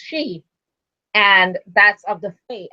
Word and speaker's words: Sidhe: that second new moon ends up being the she moon, which is spelled Sidhe, pronounced she.